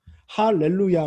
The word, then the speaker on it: 할렐루야: 라고 발언한 사항은 1로 야 라고 발음하지 않습니다 할렐루야 라고 발음 하지요 그게 왜 그러냐 하면 원래 중복